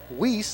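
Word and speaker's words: Wiese: Garden City captains Joel Bellows, Caleb Weiss. I'm sorry I mispronounced his name in the pregame. He spelled W-I-E-S-E, pronounces it Weiss.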